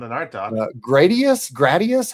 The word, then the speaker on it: Gradius: I go soft A.